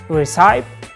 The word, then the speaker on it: recipe: Recipe or receipt, both of them are wrong. The correct pronunciation is recipe, recipe.